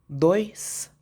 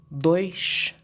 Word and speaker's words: dois: زيرو، uma, dois, duas, três. لو تاخدوا بالكم حرف الاس في الاخر في البرتغال بيتنطق شين، لكن في البرازيل يتنطق اس.